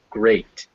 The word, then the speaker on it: great: Some notable exceptions to these rules are the words heart, where it's an ah sound, heart, and great, where it's an A sound, great.